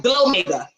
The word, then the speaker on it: Glow Mega: It's intentional, and it rhymes with Omega. So I was like, Glow Mega.